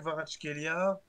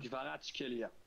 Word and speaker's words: Kvaratskhelia: Dvijak Kvaratskhelia. Pourquoi il y a un problème? Kvaratskhelia.